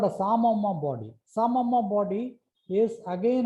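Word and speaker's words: psammoma: So this is called a Samoma body. P is silent.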